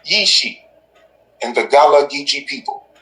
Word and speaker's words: Ishi: jesus christ is ishii the prophet pronunciation is yishi and the gala gichi